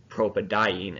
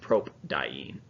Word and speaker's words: propadiene: We add an A between the root and the prefix di, tri, etc. so it's easier to pronounce. So you see propadiene instead of propdiene.